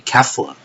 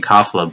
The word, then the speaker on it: Kefla: I mean, people like Kaiser Nico or Herms are all saying Kafla, but or they're spelling it with an A instead of an E, like that first vowel. But yeah, it's still pronounced Kefla somehow, I guess.